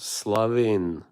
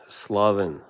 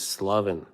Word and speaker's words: Slaven: It is pronounced, however, Slav, the word is pronounced Slavin. Slavin. It's like the A is, drawn out. But in the name, it's like Slaven. It's pronounced, my name is Slaven. But the word Slav is Slavin.